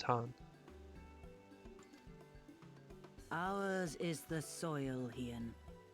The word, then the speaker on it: Khan: like i'm pretty sure khan one is actually pronounced han ours is the soil